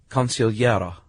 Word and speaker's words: consigliere: And there's a couple of ways to pronounce this. The consigliere. I like it with the hard G.